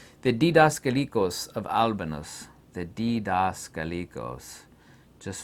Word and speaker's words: Didaskalikos: The Didaskalikos. Just phonetically say that out yourself.